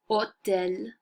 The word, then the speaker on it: hôtel: The reason H gets an apostrophe is because the H is silent.